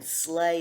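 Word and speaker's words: sleigh: bobsled b-o-b and then slay is hard to spell that's what i call a red word s well l s l e i g h so slay it sounds like it ought to be s l a and maybe a y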